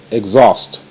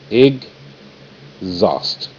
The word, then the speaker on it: exhaust: next to an E exhaust EG egg z a z zust exhaust exhaust H is silent here there is your fence G is on the left Z is on the right z a zust exhaust